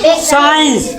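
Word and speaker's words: science: एस ई आई ई एन सी यहां सी साइलेंट है कहां पढ़ ले साइंस साइंस मतलब का विज्ञान विज्ञान सी साइलेंट सी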